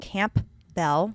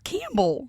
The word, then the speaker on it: Campbell: According to Cample Campell, Campbell. Campbell. Campbell. Campbell. Camp Bell. No, it's Campbell. Campbell. That's how it's pronounced.